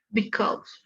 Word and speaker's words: because: Because. Entonces, ¿cómo pronuncias esto? Audience. Este no es un diptongo, dices because, ¿o sí? O sea, lo dices así, because.